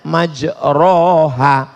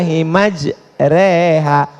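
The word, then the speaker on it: مجراها: email lah Bismillahirrohmanirrohim creehack tulisannya majroha Tapi bacanya miring bismillah imaj reha namanya Imam Al mall-mall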